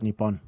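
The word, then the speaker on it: Nippon: they don't call it that they call it nipon yeah that's how you pronounce and Americans just went Japan Japan laughs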